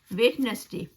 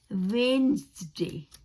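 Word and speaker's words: Wednesday: तो उसका जो डी है ना वो साइलेंट है, उसको इस्तेमाल नहीं करना है हम लोगों को, तो उसको करेंगे वेन्सडे, वेन्सडे, ज की आवाज आएगी, डी की आवाज नहीं आएगी, वेन्सडे, ये इसका राइट तरीका है, वेन्सडे।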